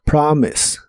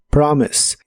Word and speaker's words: promise: de inglés es promise la o se pronuncia como una a profunda promise promise y en el presente